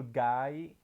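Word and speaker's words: गाय: Guy, which is not gay, like like a homosexual man. Guy is like literally means cow in Hindi. Like let me write it. Ga double. This is a double, like an elongated a because yes, elongated a with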